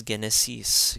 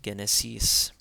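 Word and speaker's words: ⲅⲉⲛⲉⲥⲓⲥ: Now we have the gamma being pronounced as a hard G. So this is genesis, genesis. And genesis means Genesis. Again, the gamma taking a hard G sound because an A comes after it, genesis.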